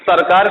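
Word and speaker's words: Circars: सरकार की स्पेलिंग यहां सी से शुरू हुई है, इससे कंफ्यूज नहीं होइएगा, बिल्कुल सही है।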